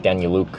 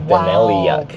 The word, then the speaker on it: Daneliuk: So it's Ukrainian, so it would have been more like Daniluk, but we're many generations removed from that, so lost their kind of culture there. But it's a difficult name. Like it's spelled Daneliuk, so it's like Daneliuk.